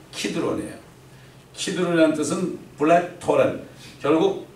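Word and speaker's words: Kidron: 이 케드론, 영어로 케드론 돼 있잖아요. 원래 히브리어 발음은 키드론이에요.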